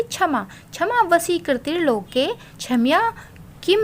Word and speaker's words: क्षमा: देखिए, अगर ये स्टार्टिंग में आता है तो ये हमेशा छ का उच्चारण होगा इससे, ठीक है, तो इसका उच्चारण क्या होगा, छ।